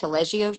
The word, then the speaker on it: Taleggio: Did I pronounce that Mm-hmm. correct? Taleggio cheese.